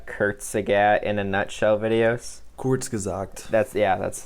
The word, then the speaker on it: Kurzgesagt: Kurzgesagt. That's how you pronounce it.